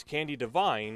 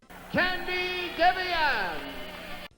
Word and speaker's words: Candi Devine: Let's segue to the UWF Women's World Championship match as Candy Divine or as Steve Rossy pronounces it, Candy Deian, looks to redeem her loss from Beach